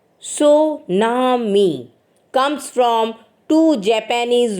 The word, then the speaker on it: tsunami: destruction of lives and property the word tsunami pronounced Sunami comes from two two Japanese words Sue means